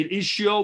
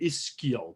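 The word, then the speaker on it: ischial: is skill tuberosity so it depends on how you say it i say is show but some people say is skill because it's an an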